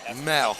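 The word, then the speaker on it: Moell: Spelled M-O-E-L-L. Mole. Mole. Mole. They pronounce it Mel? Mel. Okay. Thank you. Mel. Pronounce Caleb Mel.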